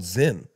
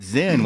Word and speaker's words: Zyn: No, it's this thing called Zyn.